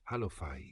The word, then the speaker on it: Cleofás: Alfeo se pronuncia como Halfai, mientras que Cleofás es Halofai.